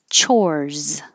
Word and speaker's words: chores: Chores. This looks like an S, but sounds like a Z.